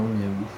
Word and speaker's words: Miaou: Voilà, une petite journée tranquille pour se préparer à la nuit en direction de Miaou, je confirme, ça se prononce bien Miaou.